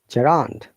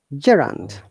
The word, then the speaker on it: gerund: huh let me check the sound once more gerand gerund sumaya do you know what is gerund yes